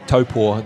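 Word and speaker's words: Taupō: Well, what we were talking, the volcanic pump, it's volcanic soil with, and should I say topor, the correct Māori pronunciation, but we're in the Northern Hemisphere, so I'm Making it easy.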